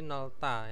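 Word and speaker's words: 넓다: Terus ada nopta, luas menjadi nolta ya. Nopta. Nah, ini nolta. Nolta.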